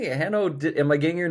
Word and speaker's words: Hanno: person say it which I got two NS so it's Hano but a lot of North Americans go with a one one n Hano that's that's fine and uh last name